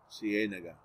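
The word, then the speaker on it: Ciénaga: c a naga siena c a nega in english you never have two strong vowels together without a consonant separating them so those uh double vowels are hard for americans to pronounce c c a nega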